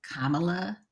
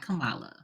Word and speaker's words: Kamala: my closing remark is you're going to have to pronounce her name right it's Kamala not Kamala oh I'm sorry I